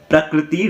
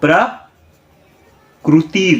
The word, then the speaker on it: प्रकृति: लेकिन असल में संस्कृत रॉन्ग है, संस्कृत राइट है, प्रकृति रॉन्ग है। ठीक से दिखाई नहीं दे रहा होगा। प्रकृति रॉन्ग है और प्रकृति राइट है।